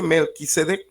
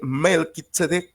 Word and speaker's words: Melquisedec: Se dice Melquisedec, pero se escribe Malquisedec, se lee Melquisedec.